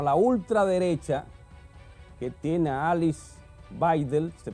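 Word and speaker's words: Alice Weidel: terminar el programa La ultraderecha que tiene a Alice baidel se pronuncia así como su candidata tiene casi un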